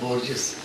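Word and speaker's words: Borges: एक Spanish author बोर्जेस ने कहा है, बहुत ऑथर है, सही उच्चारण में बोर्जेस, तो उसने कहा है कि मैं अपने जो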